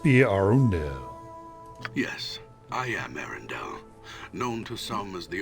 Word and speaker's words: Arundel: the small Mountain Community it's Arendell I was saying it wrong and I'll probably forget and pronounce it incorrectly in the future uh you are Aaron